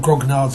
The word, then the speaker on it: grognards: gards and control freaks I think it's pronounced gron yards um I have heard Grog nards as well so it could be either um several years ago